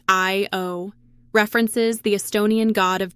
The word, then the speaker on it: ÄIO: And get this, the company's name, pronounced I-O, references the Estonian god of dreams.